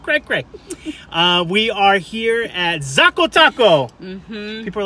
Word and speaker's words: Xaco: We are here at Zakho Taco. People are like, how do you say Zakho? Like, people don't know how to say Zakho. It's like taco. I called it Akko Taco. Did you really? Zakho Taco.